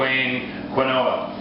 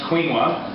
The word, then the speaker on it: quinoa: WordPress blog yes I did just call the Wayne quoa that's what I called it until this morning when I looked it up it's actually pronounced quinoa and so I admit my mistake but that